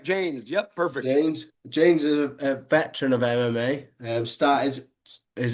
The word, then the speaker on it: Jaynes: Jaynes.